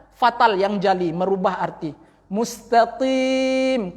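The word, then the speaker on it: مستقيم: Mustaqim, qaf dibacanya dengan kaf, berangin pula mustaqim. Itu fatal. Kemudian mim yang di ujung itu digantinya dengan nun, mustaqim.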